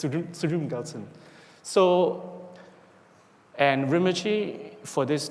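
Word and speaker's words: Tsultrim Gyaltsen: Rinpoche pronounced it very quickly, so it's Sultrim Gyaltsen.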